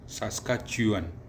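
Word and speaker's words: Saskatchewan: सास्काच्यूअन कई लोग बोलने में हिचकिचा जाते हैं कि भाई इसका प्रोनाउंसिएशन कैसे करें।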